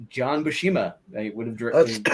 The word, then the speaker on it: Buscema: was, "That's John Buscema," or I should say Buscema, because I saw an interview with him and he finally heard him pronounce his last name.